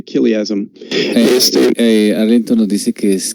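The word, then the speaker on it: chiliasm: En inglés se dice kiliasm.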